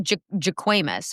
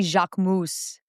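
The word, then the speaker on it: Jacquemus: Well, it it looks like Jaquis or Jaquimus. That's what it looks like. But it's actually Jacmoose.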